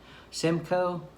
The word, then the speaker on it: Simcoe: do you pronounce that i thought it was sim yeah simcoe that's an e simcoe centennial chinook cascade and